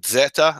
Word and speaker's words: Zeta: Greek alphabet called Zeta I was taught to pronounce it Zeta as combination of D and Z I don't know where